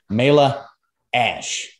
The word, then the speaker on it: Mayla Ash: All right, today I have one of the elite women pro athletes in the IFBB today, Mayla Ash. Did I pronounce it right?